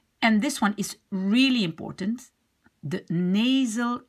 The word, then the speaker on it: important: So you have the un in the beginning and you have the en at the end.